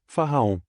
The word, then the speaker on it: Faraon: Este mantra se divide em 3 sílabas, Faraon.